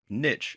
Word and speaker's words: niche: To get started and to do the same, you're going to have to choose the niche, or niche as it's sometimes pronounced, that you want to focus on.